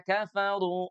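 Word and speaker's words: كفروا: Innalladzina kafaru. Tuh, sekali lagi huruf fa-nya diucapkan dengan cara menyentuh bibir bawah kita dengan gigi seri atas.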